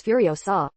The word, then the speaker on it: Furiosa: explanation for rage road the word is furio saw that is the pronunciation of furiosa the heroin played by